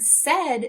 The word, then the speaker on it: said: In the word said, they're making the sound eh, as if it were a short E.